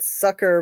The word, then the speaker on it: Succor: And it's called Sucker, but it's spelled Succor.